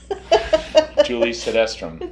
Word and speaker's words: Julie Sodestrom: Julie Sodestrom.